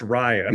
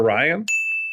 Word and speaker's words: Rian: Also, I think it's pronounced Ryan. I think it's Rian Johnson. No one spells Ryan like that. Apparently, his parents did. Well, I'll subvert his expectations from now on and call him Rian.